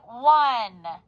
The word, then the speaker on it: won: We have to think won, but we say won.